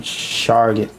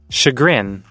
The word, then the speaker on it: chagrin: Shargan. How you pronounce that? Chagrin.